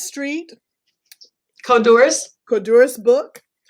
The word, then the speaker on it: Codorus: You can find her story, 480 Cordis Street, Codorus, Codorus book, 1 and 2 on her website.